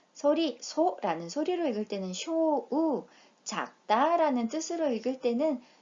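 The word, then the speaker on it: 小: 이렇게 어떤 범위 전체를 나타낼 때 주우라고 읽는다는 거 기억해 주십시오. 작을 소이고요. 소리, 소라는 소리로 읽을 때는 쇼우, 작다라는 뜻으로 읽을 때는 코, 오와 같이 읽힐 때도 있고, 자, 작다라는 형용사 지사이입니다.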